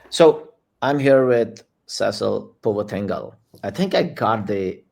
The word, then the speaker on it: Puvathingal: So I'm here with Cecil Puvathingal. I think I got the pronunciation right, You got it Cecil.